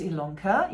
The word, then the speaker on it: Ilonka: My name is Ilonka, yes, it's spelled with an I but pronounced with an E, and we are here in Hamburg, Germany.